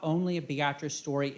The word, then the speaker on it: Beatrice: this all happened in a small town in nebraska named beatrice and yes they say it like that i i i struggled